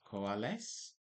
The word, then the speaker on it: COALESCE: So it is pronounced like this coales and it brings values together so there is less missing data.